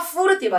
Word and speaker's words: furtiva: 우나 푸 F 발음이 푸처럼 들려요. 아. 라그리마 여기도 내려올 꿰레 페스토 이런 데가 F 발음을 F 우나 푸르티바 해보세요. 푸르티바 아 이거 봐 푸르티바라고 하잖아. 아 뿌가 쌍 뿌가 아니고 푸푸푸푸 푸르티바 푸 F 후도 아니고 F 해보세요.